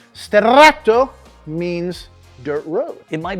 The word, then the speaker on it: Sterrato: you more about what makes the Lamborghini Huracan Stato the Stato and not just a Huracan again Str sorry let me say it right Str means dirt road it might be dark on